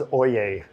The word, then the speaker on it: Oyai: shots of your boat um how do you pronounce her name uh well her name is oay o o y AI which is a very